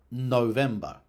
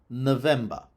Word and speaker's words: November: So, for a word like November, which also starts with an unstressed O, the older pronunciation was with a long O, November, and the newer pronunciation was with a schwa, November.